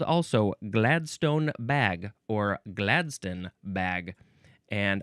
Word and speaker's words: Gladstone: Now, we go to ring Gladstone. And the uh chiefly British uh pronunciation would be Gladston. Gladston or Gladstone.